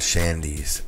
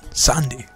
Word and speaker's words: Shandy: I think what she's going to tell you is the H is silent. She's from the Middle East, and it's just Sandy.